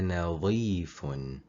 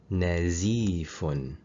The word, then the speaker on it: نظيف: touches the lower teeth, you are going to pronounce the word عزمه instead of عظمه, and the meaning changes completely. أنا نظيف. ظ. ظ. أنا نظيف. I am clean. نزيف.